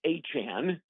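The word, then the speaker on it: Etienne: And and listen that's a physical run game with Alvin Chimera and and Travis Achan.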